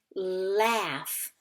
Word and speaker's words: laughs: says act not ah so it's laughs do you see enough there I don't see an F so that G in that H are kind of making an F sound so it's a very tricky word laughs all right hey